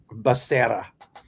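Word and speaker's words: Becerra: It's pronounced uh Bassera.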